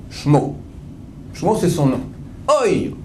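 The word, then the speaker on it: שמו: Dans la Torah, il est écrit sans le premier vav. Sin, mem, vav. On peut dire comment? Shmo.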